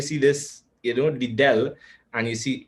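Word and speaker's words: ∂: right and you notice it is not written as a normal d right but it is a bent d right and that d is pronounced del so therefore this is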